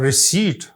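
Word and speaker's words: receipt: आई है और पर्सीव और रिसी रिसी होना आर ई सी ई आई पीटी पी साइलेंट है और रिसीव तो आपने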